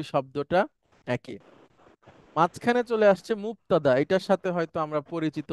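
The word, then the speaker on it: مبتدأ: আমার সাথে বলেন, মুবতাদা। মুবতাদা। হ্যাঁ, এখানে মাঝখানে কিন্তু বা, ক না, মুক না, হ্যাঁ, মুবতাদা।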